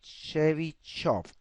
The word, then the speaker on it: Chebyshev: pat nuri chebyshev and i have been told that in russian it's pronounced something like Chevy shot well in this in